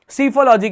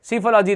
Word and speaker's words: psephology: सीफोलॉजी देखो PSEPHOLOGY, बिल्कुल perfect है, एकदम सही है। सीफोलॉजी ये होता है। PSEFO नहीं होता है, SEPHO नहीं होता है, P से स्टार्टिंग होती है।